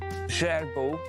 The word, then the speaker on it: Gerbeaud: Actually, this big house is called like Gerbeau. It's spelled like Gerbeaud. It's like a French sounding name.